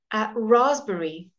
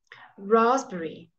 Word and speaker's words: raspberry: all right and then in the middle of the word we very seldom have it as a silent P but here you go raspberry raspberry okay and then receipt